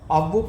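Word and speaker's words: Aufbau: F silent हो जाता है, जब F साइलेंट हो जाएगा AUF BAU, एक ही वर्ड है, AUF BAU, AUF BAU, इसको F साइलेंट करके ऑफ बोह प्रिंसिपल पढ़ते हैं।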